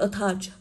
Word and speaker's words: attach: Đọc là attach. Cô có ơ không nhận trọng âm, vậy trọng âm sẽ rơi vào âm tiết thứ hai.